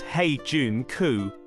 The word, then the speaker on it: Heijunka: today's Dynamic Global markets hey junker pronounced hey Jun cou is a Japanese word